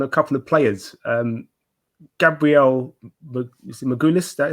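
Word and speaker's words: Magalhães: Gabriel Magalhaes, is that how you say it? Magalhaes, yeah.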